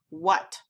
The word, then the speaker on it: what: Does it make a long A sound? No. This is our oddball. Because that A is making an like a U.